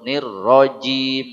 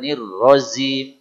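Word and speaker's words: الرجيم: Ir silakan auubillahiminasyaitanirjim termasuk nirjim engak boleh nirim Jim Diab Bismillahir tekanan pada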